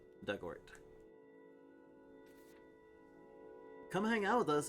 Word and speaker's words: Dugort: Pronunciation, dug like in the past tense of dig. Ort. Rhymes with hurt. Dugort.